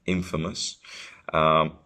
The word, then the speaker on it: infamous: the emphasis you know the stress is on the in infamous it's not the opposite